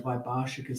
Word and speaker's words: Vaibhāṣikas: No, Vaibhāṣikas. See, the A is a long A.